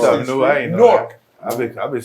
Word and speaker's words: Newark: I ain't know Newark. that. I've been saying Newark for the past almost 50 years. They gonna know. They gonna know we from New York. You say that. It's apparently a one-syllable word, and we Yeah, didn't know Newark.